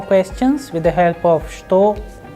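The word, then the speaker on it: что: what is pronounced as shto however we start when we write it we write with che but when we pronounce it the sound is like okay all right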